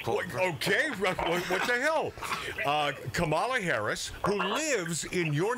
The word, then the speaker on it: Kamala: Well, Kamala, and if you want to know how to pronounce her name, just think communist.